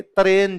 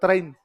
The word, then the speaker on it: तराइन: तो कहता है कि मोहम्मद गोरी ने हिंदुस्तान दे तरेन से, तरेन मतलब तराइन, तो पंजाबी का थोड़ा प्रोनाउंसिएशन वैसे हो जाता है, हिंदुस्तान दे तरेन से 2 लड़ाइयां की थी।